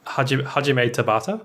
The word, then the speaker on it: Hajime Tabata: director has actually resigned now Christian can you pronounce his name for me because I know I'm in a breakfast it's Hajime Tabata that sounds right so Tabata son yeah yeah